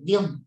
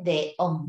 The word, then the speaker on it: acordeón: Dión, ahí sí. Pero no dice dión, dice deón.